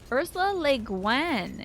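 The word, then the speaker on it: Ursula Le Guin: like a ghost town Ursa lean is how you pronounce it oh I've been saying Guan like pengan or something good omen this one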